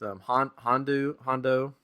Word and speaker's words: Hondo: the opening ceremony with Hondo. I don't know why I always pronounce his mispronounce it. I want to say Honda Accord, but I know that's not his name.